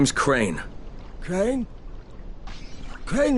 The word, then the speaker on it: Crane: name is crane okay crane rhymes with train and pray and say and crane and rain and plane and the other kind of plane and and can I